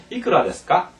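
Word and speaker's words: いくらですか: 따라서 이끄라 데스까, 이끄라 데스까 이렇게 반드시 기초할 때부터 물론 까는 의문문이니까 이렇게 높여주고요.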